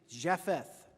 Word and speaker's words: Japheth: noah had three sons who may be pronounced something like shem ham and japheth now the earth was